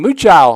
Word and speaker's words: Muchow: Austin Muchow, I believe, was on the receiving end of that one, listed as a tight end. I think it's actually pronounced Muko if I remember right from last year.